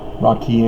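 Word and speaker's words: רקיע: what we're getting to rocky and in verse 12 that's rabbis Isis's pronunciation for rakia as is known in the Masoretic Hebrew text to the Bible so that's why it's rocky yang signifying expands rather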